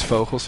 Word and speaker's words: Vogels: Vogue, by the way, is Vogels, if you were wondering. Which is a Dutch name, so that's why I know how to pronounce it. So if you think that I'm scraping my throat, no, I'm just speaking Dutch.